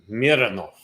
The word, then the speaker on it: Mironov: Do we say it like German? Mironov. Or Russian. Russian, that's what I mean. Roman Mironov. Mironov, yes.